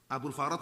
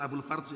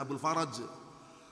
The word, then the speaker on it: Abul Faraj: Abul Faraj bacanya, bukan Abul Farj ya, Abul Faraj.